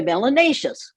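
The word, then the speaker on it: melanatious: melanin in your skin your melanatius which rhymes with gracious and spacious and efficacious it is not a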